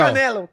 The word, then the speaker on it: Canelo: Canelo. Canelo. Canelo. You said it a little different. It's fine. We It's Don't worry. I went to Triple G and everybody just yells Canelo.